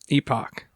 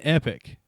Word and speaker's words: Epoch: Last Epoch. Epoch. That's what I say. Yeah, I was saying epic. But I knew that it wasn't spelled like epic. So right. I was like holding out the O, but it's Last Epoch apparently.